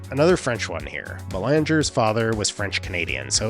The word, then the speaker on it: Belanger: Shortstop, Mark Belanger, another French one here. Belanger's father was French-Canadian, so it's assumed at some point this would have been pronounced, I guess, Belanger.